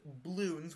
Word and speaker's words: Bloons: ayt um this know it's pronounced Bloons without the A and without one of the L's second of all this